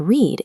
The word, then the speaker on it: read: However, when you use it in the past tense to describe a book you already finished, you must pronounce it like the color red.